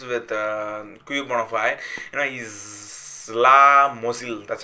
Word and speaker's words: Czesław Mozil: And also, that's like another artist who is with Quebonafide, you know, he's Czesław Mozil. That's how to pronounce it. Yes, he said he's Czesław Mozil.